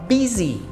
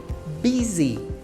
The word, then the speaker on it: busy: temos o busy busy cuidado aí com a pronúncia tá porque escreve bu Y mas esse U ele tem som de i então a gente fala busy busy I'm busy Now estou